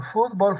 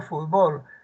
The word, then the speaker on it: fútbol: muchachos sin Amparo dice Existen algunas palabras que pueden ser representados con más de una sin cambiar por ejemplo fútbol fútbol maníaco maníaco etcétera Bueno qué pasa esos son de doble acentuación nosotros en Perú El